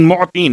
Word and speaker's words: معطین: بہترین, یا خیر المعطین، معطین میم عین توئیں یہ نون معطین موتی. اب چونکہ اگر تلفظ میں غلطی ہو جائے تو بات کہیں اور پہنچ جاتی ہے. ایک دینا ہے اور ایک عطا کرنا ہے. یا عین اور توئیں کے ساتھ ہے، حمزہ اور تے کے ساتھ نہیں ہے.